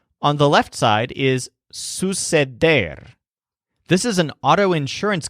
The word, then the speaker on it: suceder: The word suceder stresses der, suceder, but there's a secondary syllable, sus, which sounds kind of like Zeus. So suceder means to happen.